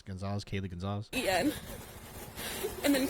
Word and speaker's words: Goncalves: That was her sister, and it was Gonzalez, but it was spelled like Conglaze. Remember, I didn't know how to say it, but it's Gonzalez, Kaylee Gonzalez.